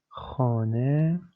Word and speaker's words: خانه: خانه. We have خ plus a plus ne plus he, which is here pronounced as e, not he.